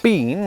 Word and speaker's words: been: In both countries, this is pronounced in one of three ways. Been, which is far less common in the US than in Britain. Been, as in, where have you been?